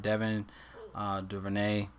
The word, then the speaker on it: Devin Duvernay: I mean, you have Devin Duvernay, is how you pronounce his name, in a good spot.